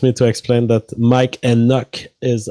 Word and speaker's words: Enoch: So he wants me to explain that Mike Enoch is how you pronounce it, but you Mike got Enoch. it earlier, I think. Yeah. I was reading it Mike Eknock.